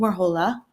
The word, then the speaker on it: Warhola: But I've been trying to set this up with Miss Warhola. Did I say it right? Yes. Oh, good. Warhola. Mm-hmm. Warhola.